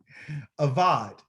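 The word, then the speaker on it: עבד: Avad, okay? An avad is a servant, and to serve is called the same word, but it's pronounced a little different. It's called aved, okay?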